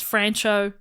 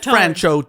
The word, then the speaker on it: Franchot: is just for listeners it is francho but I'm gonna keep calling him friendship he doesn't come up that much more but it does sound a bit like a rapper though it's the other pronunciation franchot tone going home for example